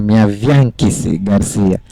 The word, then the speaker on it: Miaviankisi Graciano: Na verdade, o nome se pronuncia minha Bianquice Garcia.